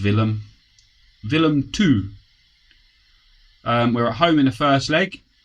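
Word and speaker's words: Willem II: We're playing, I think it's pronounced Willem 2.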